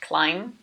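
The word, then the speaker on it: Klim: Sigma clim Sigma clim climb is not a very common last name is it this is actually really funny because clim means to climb in Dutch and you pronounce this as climb climb clim climbing and he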